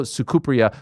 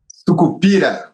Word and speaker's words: Sucupira: I'm talking about Pablo Sukupya, who I hope I'm pronouncing his name correctly.